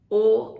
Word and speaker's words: Om: consists of three sounds when we chant o we open the mouth at awe close the mouth at um and becomes o when the mouth gets